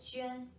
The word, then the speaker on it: Juān: Let's take a look at the pronunciation. This is the Pinyin for Juān.